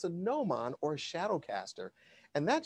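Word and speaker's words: gnomon: out is called a noman it begins with the letter g so it's a little tricky it's g is silent but it's a no mon or shadow caster and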